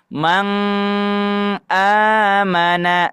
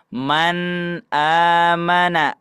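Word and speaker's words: مَنْ آمَنَ: Tidak dibaca mang amana, tapi dibaca man amana.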